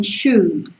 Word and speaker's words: should: dar la tabarra, pero por favor, do not pronounce the L, no me pronuncies la R, ¿vale? Ni en would, ni en should, por favor, ¿ok?